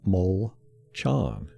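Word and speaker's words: Molchon: our backup offensive linemen his name is pronounced mole chan okay you were asking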